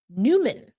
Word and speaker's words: Nyman: Yanni's last name incorrect Newman is how he pronounces it according to Jeff Baker I'm looking at his